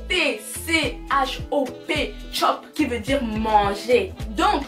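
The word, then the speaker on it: tchop: Vous avez compris, ça s'écrit T-C-H-O-P, chop, qui veut dire manger.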